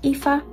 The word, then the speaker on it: Aoife: It's pronounced Aoife. It's Irish. It's not English.